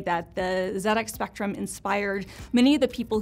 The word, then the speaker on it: ZX Spectrum: the ZX, excuse me, we're British, so I should say it properly, the ZX Spectrum.